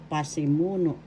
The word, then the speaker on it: pasimuno: Subject, Tagalog, pasimuno. Pasimuno. First syllable pa, second syllable si, third syllable mu, fourth syllable no. Pasimuno. The third syllable has the accent, and pasimuno is subject in English.